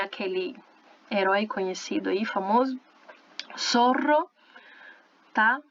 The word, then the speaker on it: Zorro: Zorro, tá? Se escreve com zeta, tudo com som de S, som de S, ok?